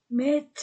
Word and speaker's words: mettent: O il mettent mettent e ne se prononce pas.